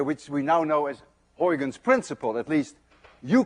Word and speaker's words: Huygens: You see, this sound, UY, is pronounced in Dutch as ui. None of you can say ui unless you're Dutch.